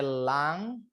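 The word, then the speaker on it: lung: Kemudian ada lang. Lang. Lang itu parupu ya buat nafas ya. Paru-paru lang bacanya lang.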